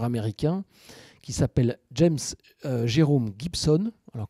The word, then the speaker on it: Gibson: qui s'appelle James Jerome Gibson. Alors, comme ça se prononce, hein, comme la guitare, G-I-B-S-O-N.